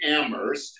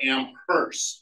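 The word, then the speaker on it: Amherst: um that's a joke Betsie Betsy pronounces it ammer not amers with a hard H so I used to tease her about it until I Googled it and found out that in am ammer that's the way they pronounce ammer they say get the H out of ammer so I was right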